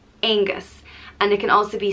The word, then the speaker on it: Angus: son of dagda and it's pronounced ain gus angus and it can also